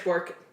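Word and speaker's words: Bourque: Oh god, I hate this last name because I swear I butcher it, but Bork is the last name.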